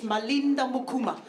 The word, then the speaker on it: Malinda Mukuma: Listen, if you didn't catch my name at the top, it's Malinda Mukuma. I only say it like that because it is so frequently confused with Hakuna Matata.